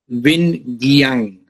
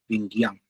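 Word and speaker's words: Vinh Giang: Vin Jiang. He is a presentation and speaking coach on YouTube. Vin is spelled V-I-N-H. Second name G-I-A-N-G. Vin Jiang.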